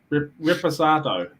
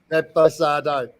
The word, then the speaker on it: Reposado: Reposato. Reposado.